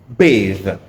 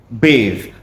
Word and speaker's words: bathe: Now the first one this one here is pronounced bathe. bathe. That is a verb, right? He bathed the baby. So you see, not bath. Is ba, right?